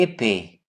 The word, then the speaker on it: épais: Ce tapis est court et épais. Tapis, silent S. Et, silent S and T. Court, silent T. Et, silent T. Épais, silent S.